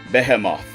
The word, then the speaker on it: Behemoth: Well, in the actual Latin pronunciation, it is Behemoth.